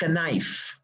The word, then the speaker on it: knife: Unlike English, unlike Swedish, unlike other languages where you have some letters in the word like knife. Knife is not knife, it's knife.